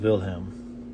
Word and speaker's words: Wilhelm: Wilhelm, with the W being pronounced as a V.